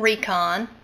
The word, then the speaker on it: Rikon: close so you can see the label it's pronounced Recon if you can see that it's made in